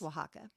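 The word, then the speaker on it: Oaxaca: Waka Mexico and it's spelled o a x a CA pronounced Waka I had to look up how to pronounce it I had no idea cuz that X in there like all of it throws me off that's a hard consonant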